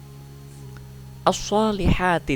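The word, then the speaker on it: الصَّالِحَاتِ: Kemudian pada ayat yang ketiga, as-solihati di sini lamnya tidak dibaca.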